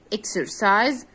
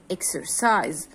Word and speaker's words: exercise: as it is s but as if it is z like this okay museum exercise music okay what about